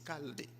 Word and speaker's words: Chaldée: Ça s'écrit avec un CH, mais c'est Chaldée.